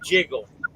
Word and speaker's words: JGGL: It's spelled JGGL. Jiggle.